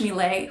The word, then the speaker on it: Millet: end this one is the french melee who's spelled like millet m-i-l-l-e-t so the reason